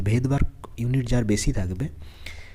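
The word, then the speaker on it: Svedberg: তো এটা এস দিয়ে শুরু, কিন্তু এসটা সাইলেন্ট, এখানে উচ্চারণটা ভেদবার্গই হবে, ভেদবার্গ ইউনিট।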